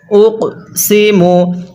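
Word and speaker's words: أُقْسِمُ: সিমু হ্যাঁ কিভাবে শিখবো উক সিমু এই কফটা পড়ার সময় আমরা হালকা ধাক্কা দিয়ে পড়বো কারণ কফটি হলো কলকলার হরফ আর কলকলার হরফ হলো পাঁচটি যা আমরা পূর্বে শিখছিলাম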